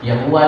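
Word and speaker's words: Yahweh: और ज्ञानी कहते है इंग्लिश में उसका spelling Y ए एच डब् ई एच यावे यावे जो है प्रोनंसिएशन के लिए यावे लिखा रहता है असल में जो सांस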